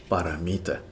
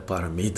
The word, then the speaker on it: paramita: we should learn how to say the Sanskrit paramita. The paramita of giving, the paramita of disciplined conduct.